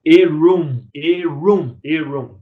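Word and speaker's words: עָרוּם: Astuto, em hebraico, ele pronuncia-se como Erum.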